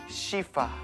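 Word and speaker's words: สีฟ้า: 시파. 맞아요. 파란색이 맞아. 시파.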